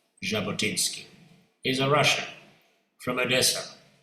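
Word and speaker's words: Jabotinsky: Uh it is spelled with a J but pronounced Jabotinski.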